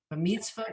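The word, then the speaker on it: במצוותיו: And the reason this word is pronounced b'mitzvotav is because there's a new grammar rule that is going on here, which is this yud. He has this little asterisk at the bottom of the page. A yud at the end of the word is silent.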